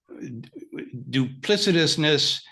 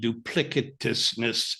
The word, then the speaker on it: duplicitousness: pause which were um duplicitousness or actually they seem to pronounce it with a hard C duplicitousness or duplica liveness it's